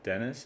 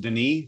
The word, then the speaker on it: Denis: I see there's a Dennis is here. I'm not sure if you introduced yourself. If you'd like to, you can. Sure. It's actually pronounced Denis, the French name.